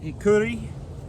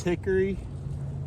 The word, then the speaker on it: Hikuri: This here is Hikuri, also known as Hickory or Curry.